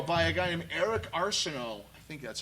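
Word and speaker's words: Arceneaux: a guy named Eric Arseno I think that's how you pronounce his name it's a French last name but oh that would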